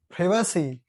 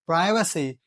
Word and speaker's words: privacy: Privacy is the United Kingdom pronunciation, but privacy is the United States pronunciation, the American pronunciation.